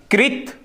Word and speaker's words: कृत: जैसे मैंने शब्द लिया कर्म, क्या, कृत, कृत नहीं होता, कृत, सही उच्चारण क्या होगा इसका, कृत, री होता है ये, कृत, रे नहीं होता, कृत शब्द क्या है, कृत, कृत, कृत्रिम और क्रमिक।